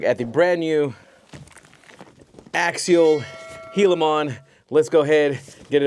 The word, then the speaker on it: Gilamon: taking a look at the brand new Axial Hilimmon. Let's go ahead get it open and get into it. All right, everybody. So, in case you're wondering, it is pronounced Helilimon.